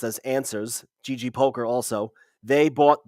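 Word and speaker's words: NSUS: move on to uh NS us which is pronounced as answers GG poker also they bought the World Series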